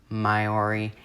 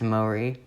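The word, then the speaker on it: Māori: was when the maori it's not maori myori it's mori which is how i'm gonna pronounce it the mori discovered and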